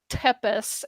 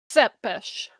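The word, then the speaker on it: Țepeș: So whenever you are typing Vlad Tzepes, the Romanian on whose reputation the story of Dracula was built, it's not Tepes, it's Tzepes.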